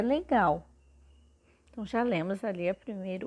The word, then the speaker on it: legal: Quando nós falamos o L, nós percebemos que ele tem o som de U no final dessa palavra.